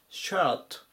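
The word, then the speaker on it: shirt: 行きます 0005 番シャートシャート発音に注意ですねこれはシャツの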